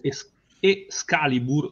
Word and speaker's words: Scalibur: E Ares, Dinamico e Scalibur, cioè e staccato Scalibur. No? E Scalibur. Comunque, però è messicano, quindi si legge comunque Escalibur. Ma perché i Scalibur?